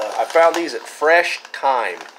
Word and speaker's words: Thyme: found these at fresh thyme spelled like the herb th why me I guess it makes